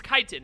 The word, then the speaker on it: chitin: chitin oh so it's chitin it's not the ch isn't pronounced as like it's pronounced like just a k like the h shouldn't even be there is what you're saying